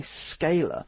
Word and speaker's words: scalar: to by a different name it's called a scalar which is spelt s c a l a r so it's a scalar but this is just